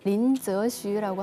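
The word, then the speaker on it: 林則徐: 그 임칙서 그 중국 발음으로 린저슈라고 하는데요.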